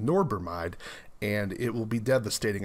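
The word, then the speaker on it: norbormide: that's kind of being re-resurrected again that norbermide is spelled n-o-r-b-o-r-m-i-d-e norbermide and it is an acute rhodena side acute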